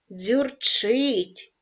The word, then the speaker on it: дзюрчить: падає на склад рі дзюрчить наголос падає на склад вчить навчає наголос падає на